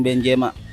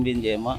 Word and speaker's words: Benzema: Karim Benzema. Siapa? Karim Benzema. Pronunciation-nya salah. Ayo. Karim Benzema.